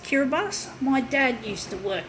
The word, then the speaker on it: Kiribati: karabast Kiribati it sounds it's spell Kiribati but I think it's pronounced cure bus my dad used to